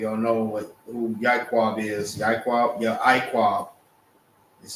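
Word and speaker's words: יעקב: Ya'iqab is how it's pronounced, is Jacob.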